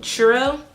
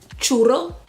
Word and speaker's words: churro: this shade is called Churro, aka Churro. You have to roll your R's. It's r, not churro, okay? It's churro.